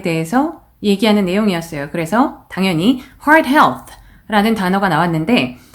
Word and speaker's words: Heart Health: 그래서 당연히 Heart Health라는 단어가 나왔는데 Heart Health는 이게 별로 안 어렵게 느껴질 수도 있지만 Heart에 R 신경 써서 발음해 주셔야 되고 Health의 마지막 TH 부분 Health 하고 요 발음을 잘 마무리를 해주셔야 됩니다.